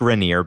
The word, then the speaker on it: Rainier: park is called mount rainier and it's uh pronounced rainier but it's spelled rainier uh so it's r-a-i-n-i-e-r